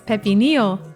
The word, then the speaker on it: pepinillo: really fun to say it's Pepe Neil and it's spelled p e p i n i l l o so if you were reading it in English it might look like pepinillo but those two L's in a row make a y sound in Spanish it's also funny how